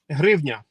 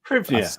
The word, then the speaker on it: hryvnia: in the chat that asked that you would pronounce the Ukrainian currency name properly. Hryvnia. There you go, guys. Hryvnia.